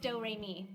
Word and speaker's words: Doremi: name is doremi midorikawa it's spelled like notes and pronounced doremi it's one of those